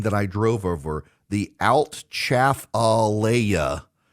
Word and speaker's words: Atchafalaya: The Altchafalaya. Chafalaya. Yes. Names and pronunciations.